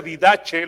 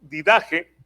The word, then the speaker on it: Didache: Bueno, se pronuncia Didache. Lo tenemos ahora en español y se pone como didaje y es un libro